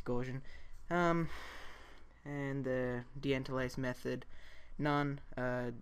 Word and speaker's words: Gaussian: think that's how you say it, yeah, it's Gaussian.